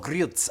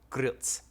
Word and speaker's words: Grilc: sods Gorilla mry but the real pronunciation of your last name is wait G one more G Gil gz oh grz I forgot the tea there's a te it's it's spelled g r i l c yeah but it it's it's pronounced g r r r e e e LTC yeah Gritz grz Okay so